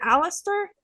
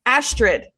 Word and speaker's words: Astrid: Again, it's just these like blinders of like, And because also, is it Alistair? Is that, what is her name? I feel like I'm saying it wrong. Astrid.